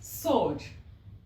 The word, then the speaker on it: sword: often and not often the second word here is sword and not sword so means that this w here is silence so we call it